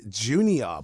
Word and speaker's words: Jxnior: His name is Jxnior, but spelled with an X instead of the U.